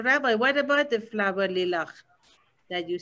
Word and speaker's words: Layla: is hebrew and arabic it's really lila like night lila but they say layla arabic and hebrew yeah lila but they're pronouncing it layla my mother is the